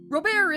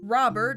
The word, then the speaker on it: Robert: yeah they go back and forth on the French and English pronunciations Rober isn't Robert except for one slip